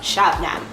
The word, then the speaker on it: Shabnam: It's not even hard. It's phonetic. Seriously, what is so preposterous to Americans about this combination of letters forming the sounds that make up Shabnam?